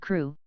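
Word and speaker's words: Crewe: difference in the name Madame Pascal pronounced it as if it were Kuru instead of crew but that might be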